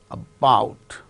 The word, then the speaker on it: about: And second syllable is stressed in the case of these words: bout. That is why the initial sound is very weak, about.